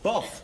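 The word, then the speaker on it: Bough: Well, that's how it is spelled. Boff. No, it's B-O-U-G-H. Frank Boff was a good one. We misspelt his name. We spelt it as B-O-F-F, as in the fart.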